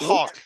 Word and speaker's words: Hawk: Roque. Yeah, Roque? Hawk. Yeah, with the H at the beginning.